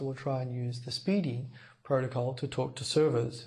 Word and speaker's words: SPDY: first of all this protocol called Speedy spdy pronounced Speedy uh Speedy is an